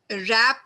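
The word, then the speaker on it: wrap: sound नहीं आ रही रप रैप में डब्लू क है लेकिन यहां पर रैप की साउंड डब्लू की साउंड नहीं आ रही नॉक में के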